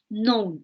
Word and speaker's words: known: Y la pronunciación, Mónica, es known, no known. I have known. Esa K no se pronuncia.